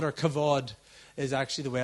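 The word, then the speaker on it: כבוד: In the Old Testament, the Hebrew word is kabod or kavod, is actually the way it's pronounced.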